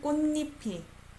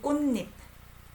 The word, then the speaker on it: 꽃잎: So in that mind, 흐트러지는 꽃잎이. I pronounce it as 꽃잎. I don't say 꽃잎. 꽃잎. Almost like N sound.